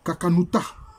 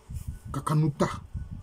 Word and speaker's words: Kakanuta: On peut dire Kakanuta. Parce que le N ici, ça renvoie au Nun. Kakanuta.